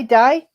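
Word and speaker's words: Dai: it die is it did they say die don't they d a i die so there are the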